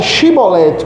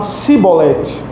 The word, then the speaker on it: chibolete: Eh, a palavra era para ser pronunciada chibolete com com som de X, aqui traduzido para a nossa língua, mas eles só falavam cibolete com som de s.